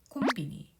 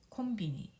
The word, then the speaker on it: コンビニ: 역시 이것도 길기 때문에 네 박자로 줄여서 표시합니다. 콤비니, 콤비니, 콤비니.